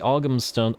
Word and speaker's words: Ogham: I'm not 100% sure as to whether we'll be holding Albion, but the Ogham Stones rather, thank you for correcting me on that pronunciation.